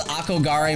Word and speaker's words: Akogare: He called Akogare Mario World a Corridor Mario World.